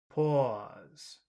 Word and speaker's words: pause: dirty sound po oh it's like boss it's the same sound oh PA pause PA po o po